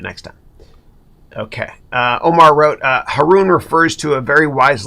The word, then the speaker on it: Haroun: But remember, Haroun rhymes with baboon.